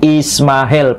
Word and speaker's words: Ismail: Ismail, ini cara bacanya Ismail Pak Edi. Huruf S itu seperti huruf F.